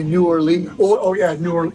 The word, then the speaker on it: New Orleans: hang you by your thumbs if you say New Orleans oh oh yeah new or yeah New Orleans New Orleans no there you go Harry conic taught me